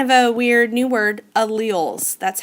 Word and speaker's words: allele: know that's kind of a weird new word alleles that's how you say it so your cells